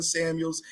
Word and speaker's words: Samuels: spelled my name wrong there is a S at the end of Samuels it's not Samuel you see that S